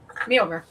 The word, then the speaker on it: Mjolnir: Jen, how do you pronounce Thor's hammer? Mjolnir. Say it. Mjolnir.